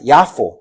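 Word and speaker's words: יפו: Jafa Yafo. Se dice en hebreo.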